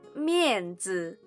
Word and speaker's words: 面子: Face is pronounced as 面子 in Chinese, and it is similar to reputation or honor.